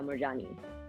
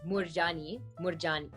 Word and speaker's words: Moorjani: now i'm morjani my new last name is morjani uh or i guess it's murjani so funny i don't even say my name right johnny that's all i